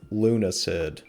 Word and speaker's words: Lunacid: Today, we are continuing with Lunacid. I guess that's how you pronounce it.